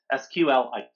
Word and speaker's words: SQLite: this new backend is SQLite or SQLite. SQLite apparently is how this is pronounced.